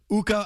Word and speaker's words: Ukko: Ukko again rhymes with Pukko.